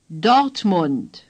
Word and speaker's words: Dortmund: For this O, you again open your mouth a little wider than the O in Hannover. Say, O. The R is hardly pronounced. Dort. Say, Dort. The U in Mund is like the U in Hamburg. Mund. Say, Mund. Say, Dortmund.